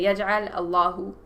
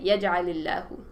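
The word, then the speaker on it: يَجْعَلِ اللَّهُ: with an alif lam, that sukoon will turn into a e sound, just to smooth it out. Because if you try pronouncing this, say we say yaj'al Allahu, sounds a bit...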